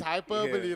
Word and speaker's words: hyperbole: Hyperbole. Hyperbole. That's pronunciation. It's hyperbole, like, because when you